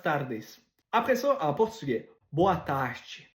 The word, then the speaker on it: boa tarde: Après ça, en portugais, boa tarde, boa tarde. Fait que le R, quand il est à la fin d'une syllabe, il ne se prononce pas.